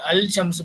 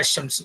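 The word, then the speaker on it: الشمس: Okay, so when al is prefixed to the noun beginning with the solar letter, the lam of al is assimilated to the solar letter. இப்போ example அல் ஷம்ஸ் becomes is pronounced அஷம்ஸ்.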